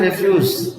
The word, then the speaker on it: refuse: agree with something but when you say refuse referring to verbs when you have the stress on the second syllable refuse means to refuse